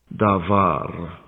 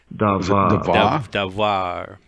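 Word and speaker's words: דָּבָר: Davar. There, it pronounced. There, I know you can't hear it, but you can hear it when you play this back. What was that again? Davar.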